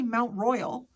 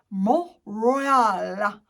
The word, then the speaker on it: Mont Royal: They don't say Mount Royal. Mont Royal. Literally like that.